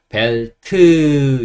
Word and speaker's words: belt: 하지만 제가 늘 말씀드리는데 영어 모음에이 으라는 모음은 없어요 그래서 그냥 벨트 이렇게 의소리를 강하게내는게 아니라 벨트 소리만 간단하게 넣어 주시면 됩니다 어 벨트라고 읽고요 벨트는